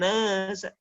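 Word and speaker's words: النَّاسَ: Nah, ayat kedua ini masih diperhatikan, yang sering kali salah adalah kata annas. Ya, di situ sebenarnya ada gunnah, sering kali gunnah itu ketabrak. Wa ra'aitan nasa. Nah, ya sering kali tergesa-gesa membaca gunnah.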